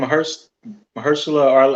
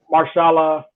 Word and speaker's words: Mahershala: I was listening to the Breakfast Club, and I think what's his name, Mahershala Ali. How you say his name? Oh, Marshala. Marshala. Yeah, Mahershala Ali.